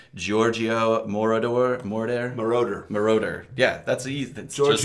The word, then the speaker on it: Giorgio Moroder: uh I'm gonna up this pronunciation Giorgio morador Mordor moroder moroder yeah that's easy just like it says